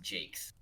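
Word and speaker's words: Jacques: hear a fun fact his last name is just pronounced jake's what yep i watched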